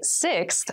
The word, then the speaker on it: sixth: sixth sixth sixth so sixth refers to the number six of something this is a really good word to practice some pronunciation slow down that sixth that middle part there the sixth book from